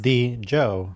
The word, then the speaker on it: Djo: Okay, yes, it is pronounced like Joe. So with a D in front of it.